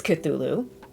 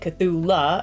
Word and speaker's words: Cthulhu: Um, but before we go any further, I need to apologize because for some stupid reason I mispronounced Cthulhu. I know it's Cthulhu and yesterday I was calling it Cthula and I don't know